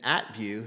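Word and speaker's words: at-view: actually talked about addresses and at view is how you say that an app view says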